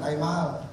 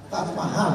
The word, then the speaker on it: Taj Mahal: Ini bukan Taj Mahal. Taj Mahal bacanya.